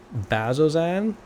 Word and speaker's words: Bazzoxan: already told you oh still heading to uh bazozan i'm from here so i can pronounce it correctly says yes yeah that's where